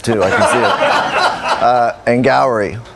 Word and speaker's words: Angourie: Angourie. They say it like it's like Maori, although I think it's pronounced Maori, so I don't know.